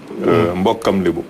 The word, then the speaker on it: Mbokam Lebo: Mbokam Lebo. Mbokam Lebo. C'est en Lebo, quoi. Il faut le prononcer en bon Lebo.